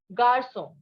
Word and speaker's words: garçon: And one example is garçon. So always remember that in French, G is pronounced as J and J is pronounced as G, right?